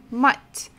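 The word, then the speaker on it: мать: of not soft matte but if we add this symbol make his Knack we should make it much softer much mutt mama or mother so here we have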